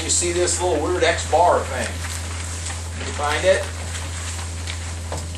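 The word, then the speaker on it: x̄: All right, first things first, this is X bar, that's how you say it, and that's going to be your new symbol for the mean.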